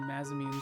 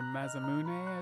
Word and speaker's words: Masamune: stay out of the way shiny brand new maimun sword or masamune as they say I always pronounce things wrong but that's what I'm used